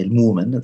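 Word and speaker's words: المؤمن: Al-Mu'min, one who, or Al-Mu'min, the way the Prophet used to say it, at least they say, he would say Al-Mu'min, that's how Quraysh used to pronounce.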